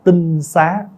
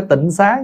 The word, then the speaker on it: tinh xá: gọi là tinh xá tinh xá chứ không phải Tịnh Xá nha Bây giờ mình đọc hơi trại là chữ tịnh xá đó chứ đúng đọc là đúng cách cách đọc là tinh Xá là cái nhà trong